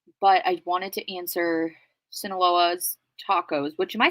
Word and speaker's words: Sinaloa: the questions um but I wanted to answer sinaloa's tacos which am I saying that right Sinaloa